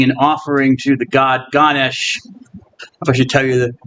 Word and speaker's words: Ganesha: with an elephant head sometimes spelled with an a at the end I think the a is silent so you could say Ganesha but it's usually ganes anyway it's very popular